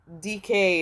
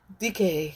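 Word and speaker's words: Dike: conflated with the goddess DK is how I'm going to pronounce it because it's spelled D I K E. DK is what we're going to say.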